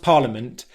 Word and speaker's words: parliament: So what Harry has done is the first time he's pronounced parliament, he's gone into the T sound at the end of the word, but he's not released the sound. He's not said parliament. Okay, he's just gone into it, paused airflow, and then that's the end of the word.